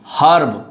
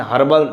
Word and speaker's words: herb: Now see, herb. In British English you will say, or you will pronounce, or you will read out it herb and herbal. Do you know herb and herbal related to plants, small plants?